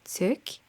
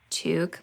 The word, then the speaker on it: toque: decided to add a toque. I think most Canadians pronounce it toque, but I'm sorry, this is a French word, so I have to say it with my French accent.